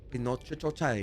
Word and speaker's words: Pinocchio: As an Italian, I like to say it, Pinocchio, which is the proper way to say it.